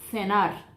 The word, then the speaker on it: cenar: Em espanhol, eu posso falar interdental. Cenar, jantar, cenar. O som de doble S para quem está começando a aprender espanhol, ¿sí? Cenar, haciendo um sonido fuerte. Cenar ou cenar, ¿sí?